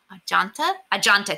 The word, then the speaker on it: Ajanta: Now, these caves are called oh no, I forgot how to pronounce it. Ajanta Caves. There we go. I looked it up. The Anjanta Caves.